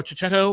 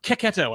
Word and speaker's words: Cecchetto: other creators that were coming out and Marco Chachetto or Ketto, I should say, which is how he pronounces his name.